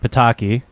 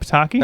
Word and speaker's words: Pitaki: First of all, Shane is in a band called Shape Pitaki. I don't know how to spell it, but Yeah.